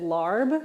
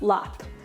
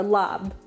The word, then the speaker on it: larb: really long time ago growing up i pronounced it larb you'll see it as l-a-r-b apparently that's wrong i've been corrected so it's lap or lab it's a mixture of